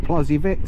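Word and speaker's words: Plozévet: Oh my god, that Plozzivet, they pronounce it Vay instead of vet. Plozzivet. But the locals always pronounce it Plozzivet.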